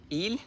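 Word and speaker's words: ils: As I understood, because he and she is il and elle, and the plural is il and elle. The pronunciation is the same.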